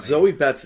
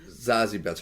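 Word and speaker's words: Zazie Beetz: And Zoe Betts is Zazie Betts, how you say her name.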